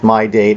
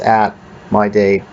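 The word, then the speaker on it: @mydate: in front of it now I just pronounced it as my date I don't pronounce it as at my date after we've declared the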